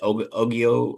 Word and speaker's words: Ogogo: Was it Ogio or Ogogo? Is how you say his last name? Ogobo.